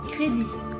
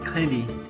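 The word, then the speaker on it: crédit: disebut eh exf kredi kredi cre create m verite verite zero zero okey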